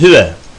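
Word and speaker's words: هُوَ: Üçüncü tekil şahıs eril zamiri hüve. Huva yazmış ama huva diye okunmaz yani. Hüve.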